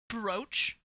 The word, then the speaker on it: brooch: like smooch answer yes brooch is usually usually pronounced in the U.S and UK to rhyme with roach but some American dictionaries recognize a variant pronunciation that rhymes with smooch so it's real I